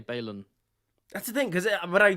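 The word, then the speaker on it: Baelon: Well, no, the only reason it's spelled differently is because it's a Targaryen name. The AE is the Valyrianness, whereas BALON is like more like, you know, it's first man. It's simple. There's no AE.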